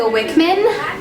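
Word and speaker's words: Wichman: Hi, my name is Wickman. It's spelled W-I-C-H-M-A-N. If it were spelled the German way, then it would be pronounced Wickman.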